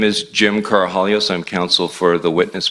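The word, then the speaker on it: Karahalios: thank you Mr Mather my name is Jim carahallios I'm counsel for the witness Mr Victor the last name is spelled k-a-r-a-h-a-l-i-o-s uh thank you Mr commissioner for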